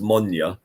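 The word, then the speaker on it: Moine: there that the monument that word moyne is pronounced monya did you know that's the gaelic word for peated yeah that's the gallic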